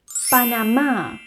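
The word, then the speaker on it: Panamá: the next one is panama there is la tilde over the a which means that the stress goes on the a and the last one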